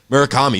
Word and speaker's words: Murakami: You have I always say his name wrong, Murakami. You have Murakami, like, again, putting up a show.